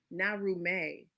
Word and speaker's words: Naarumey: You gave us this title, and I want to make sure that I'm pronouncing it the correct way. It's Naarumey.